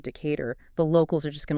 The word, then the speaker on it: Decatur: Oh, I can only imagine if you stroll in and call it Decatur instead of Decar, the locals are just going to look at you sideways.